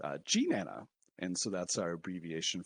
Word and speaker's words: GNANA: actually had a governance vote on the correct pronunciation of this abbreviation for some odd reason there were people who were calling it gun anna uh so we had to settle that by